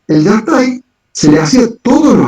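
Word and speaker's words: Yastay: Lo que sí tenían como entidad mágica espiritual era un ser que se llamaba Yastai. Yastai. Lo he escuchado. El Yastai. Sí, el Yastai, que se escribe Y-A-S-T-A-Y, sí.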